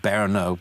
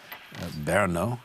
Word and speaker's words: Brno: to um but the main road goes through berno b-r-n-o berno is how it's pronounced uh a nice town in it's own